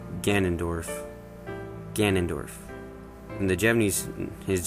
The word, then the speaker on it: Ganondorf: had any problems with this one either it's ganondorf ganondorf and the japanese his japanese name is